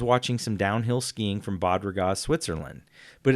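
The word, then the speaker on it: Bad Ragaz: some downhill skiing from Bob ragazze Switzerland but it's spelled differently it's B ad and it's two words B ad ra Gaz so I've thought baud rate but it's pronounced bot and I thought people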